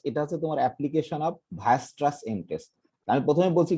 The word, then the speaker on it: Weierstrass: দেখো WEI, আবার ERS, TRASS, ঠিক আছে, ভায়াস্ট্রাস। স্বাভাবিক জার্মান ভাষায় ডাব্লিউ কে ভর মতো দিয়ে উচ্চারণ করে।